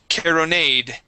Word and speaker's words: caronade: It is caronade. Caronade. Caronade. All right, good. Give me a good English R's instead of carro. All right, caro, caronade. Caronade.